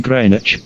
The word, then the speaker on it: Greenwich: longitude that passes through the astronomical observatory at Greenwich England is called the zero Meridian prime meridian or Greenwich Meridian Greenwich though it is spelled that way is pronounced Greenwich with accent on crane several countries tried to